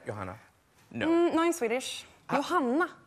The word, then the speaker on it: Johanna: you say it Johanna no no in Swedish Johanna Johanna yeah say Joanna Joanna I say yeah yeah let's go with